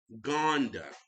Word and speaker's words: Ngonda: Jalen, I want to pronounce it right. Gondia. Gona. That's what it is. Gone. Wait a minute. Jalen Ngonda. That's his name.